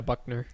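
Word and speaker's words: Buchner: is Tyler Buck Buckner is that how it's pronounced uh yeah Buckner yeah Buckner their quarterback and Drew Pine um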